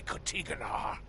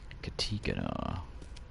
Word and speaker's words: Katiganar: Something touched by Kotiganar. Katiganar. That's how you pronounce it.